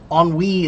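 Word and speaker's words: ennui: Oni is a French word. It means like boredom and I and it's spelled very strange.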